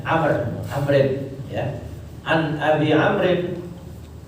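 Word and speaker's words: عمرو: Abi Amr setelah roknya ada waw. Kalau nggak ada waw dibacanya Umar. Ya, kalau nggak ada waw dibacanya Umar. Karena ada waw jadi dibacanya Amr.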